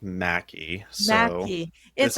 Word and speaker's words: McKie: pronounced Mackie.